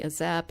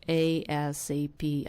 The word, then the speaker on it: ASAP: And in Europe, there were some people that would just say a zap, and I kind of picked that. And I know it's not like that. It's ASAP.